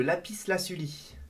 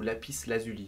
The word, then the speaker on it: lapis lazuli: vers l'or finalement hein directement les minéraux le lapis laasuli ou lapis lazuli ça dépend comment vous voulez le prononcer le quartz euh l'opale noir l'améthyste azurite